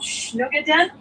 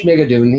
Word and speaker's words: Schmigadoon: hope it gets picked up for second called Schnugaden. I should be able to pronounce it properly. Schmigadoon, yeah.